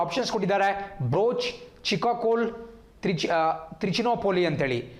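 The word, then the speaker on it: Bharuch: ಇಲ್ಲಿ ಬ್ರೋಚ್ ಅಂದರೆ ಬರೂಚ್ ಅಂತ ಹೇಳಿ.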